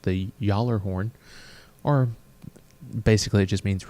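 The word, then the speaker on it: Gjallarhorn: Nick North's mythology it's in Norse mythology it's pronounced the collar horn or basically it just means really loud horn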